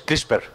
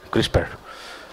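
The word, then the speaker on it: CRISPR: nombre es mejor el Cómo se dice la la viatura que es crisper que suena muy bien crisper vale Y Uy esto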